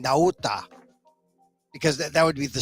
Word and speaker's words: Nauta: you say his name everyone's saying nata not natta I guess it could be NATA but I look at Walt NATA his name in I kind of I I make it just slightly more authentic I think by saying naota because that would be